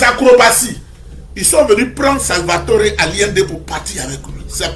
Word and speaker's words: Salvador Allende: Si tu es en français, tu as dit Salvatore. Mais je prononce ça comment? Comme les Espagnols, Salvatore Allende.